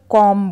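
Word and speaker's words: comb: जबकि हमें यहां पे कॉम में बी का उच्चारण जो है नहीं करना है इसे हमें केवल कॉम बोलना है कॉम बी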